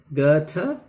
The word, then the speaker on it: Goethe: The great German author Goethe, Goethe, in India almost always pronounced as Goethe, the German pronunciation is Goethe, said, the more I